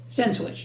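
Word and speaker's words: Sensenich: Nobody knows how to pronounce their name, so don't worry about it. It's just Senswich. Just say Senswich.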